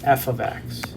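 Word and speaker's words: f(x): is the same as f of x it's pronounced f of x f of x so whenever you see this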